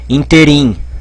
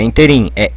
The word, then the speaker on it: ínterim: uma pegadinha porquê porque tem gente que fala ínterim né não é inter em ínterim com acento aqui é